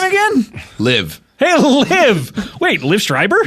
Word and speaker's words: Live: My name is Liv, but it is spelled Live.